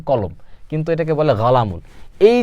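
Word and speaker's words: قلم: মানে কি গাহ মানে কফি আমরা জানি কি কলামুন শব্দের অর্থ কলম কলামুন কলামুন শব্দের অর্থ কি কলম কিন্তু এটাকে বলে গালামুন এই যে কফ কফের উচ্চারণ গাইনের মত হয়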